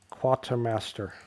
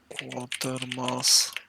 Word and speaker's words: Quatermass: Quartermaster Experiment. The Quatermass. Quartermaster, not Quartermaster. I keep wanting to say Quartermaster, but it's not that.